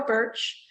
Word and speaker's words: Bertsch: So it's the law office of Birch, like the tree it sounds, but it's not spelled like that. It's BERTCH, BERTSCH. Yeah, so it's Birch.